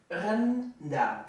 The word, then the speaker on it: rendang: At least you pronounce the E like and then After the some A practice. is like A. Rendang. It's not rendang.